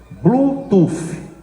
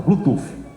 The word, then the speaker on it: Bluetooth: A pronúncia correta disso aí aqui no Brasil pra gente falar é Bluetooth. F de Francisco no final Bluetooth.